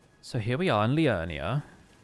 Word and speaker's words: Liurnia: So here we are in Liurnia. Got to say it like that because they're all Welsh here.